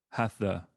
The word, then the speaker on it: Hatha: What do you think drew you to tantric yoga more so than, let's say, your generic vasana or hatha? Is it hatha?